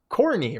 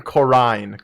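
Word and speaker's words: Corinne: corny right caroline coron skipping the eye in there like that's just you don't want to see the eye so you're just going to not pronounce it that's not how eyes work man all right then corrine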